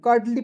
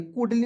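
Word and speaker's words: curly: यहां देखेंगे सी U double D एल वाई करली पढ़ेंगे कुडली नहीं पढ़िएगा next we headed to the great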